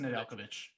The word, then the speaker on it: Nedeljkovic: Yeah, it's Nedeljkovic.